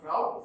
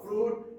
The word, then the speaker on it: Froude: Richard Harold Froude, not Froude, Froude, and Edward Pusey.